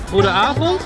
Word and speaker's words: Goedenavond: Goedenavond.